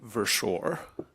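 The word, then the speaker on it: Berschor: Versore.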